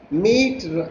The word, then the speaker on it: meat: They rhyme with, see, meat rhymes with sheet, whereas great rhymes with straight, and threat rhymes with debt.